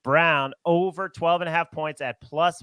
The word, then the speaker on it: Braun: And I will also like a player prop, Christian Brown, spelled Braun, pronounced Brown, over 12.5 points at plus money, because Leaky Black is going to be on Abaji.